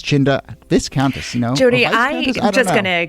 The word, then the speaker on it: Viscountess: It's the Viscountess. Viscountess, but it's spelled V-I-S, so I don't know. But there's no accounting for spelling.